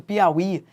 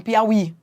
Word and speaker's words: Piauí: Daqui a 20 anos, se você retirar o acento de Piauí, daqui a 20 anos, qual é o risco? As pessoas falarem Piauí, Piau e não Piauí, entendeu?